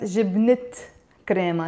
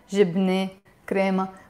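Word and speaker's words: جبنة كريمة: The t is usually silent. But whenever I put another noun next to it, we pronounce it. So it becomes jibnet crema, not jibne crema.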